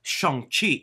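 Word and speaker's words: Shang-Chi: it wrong all year long and that is sheng chi this marvel movie is right now kind of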